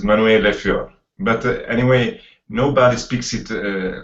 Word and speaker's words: Manuele Fior: right well okay yes the right right pronunciation is Manuel leor but anyway nobody speaks